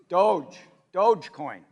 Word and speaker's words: Dogecoin: Dogecoin. All right, I have 10 Dogecoins, all right? A year ago, 10 Dogecoins, for sake of argument, was worth $1,000, so $100 a coin.